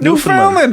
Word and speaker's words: Newfoundland: Newfoundland, as in understand.